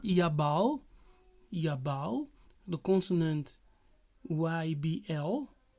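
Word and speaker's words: יָבַל: Yeah, so you see, the root is Yabal. Strong's H2986. Yaval. Yes, they pronounce the B as a V.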